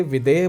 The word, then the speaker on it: विदेह: इस क्षेत्र में ध अक्षर को ह प्रोनाउंस किया जाता है, तो शायद विदेद से विदेह बन गया होगा।